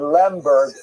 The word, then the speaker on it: Lemberg: It was known as Lvov to Poles and Lemberg as to Germans.